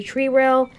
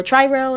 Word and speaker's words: Tri-Rail: is telling me if he wants to do tree rail. Or tri-rail is what how I was supposed to pronounce it.